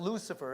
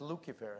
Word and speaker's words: Lucifer: So, but it's not Lucifer, it's pronounced Lucifer in Latin.